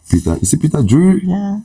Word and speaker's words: Peter Drury: it sounds like Peter Is it Peter Drury? Yeah. How do you pronounce it? Peter Drury? Peter Drury.